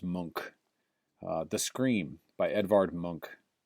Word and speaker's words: Munch: an artist named Edouard monk and monk is spelled mu n ch so munch but pronounced monk the scream by édouard